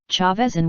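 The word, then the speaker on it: Chaves: talking about Rogue TL Chavez in one is pronounced chavezi it's a real town in Portugal by the way chapter 346 181 spies -1 part 2.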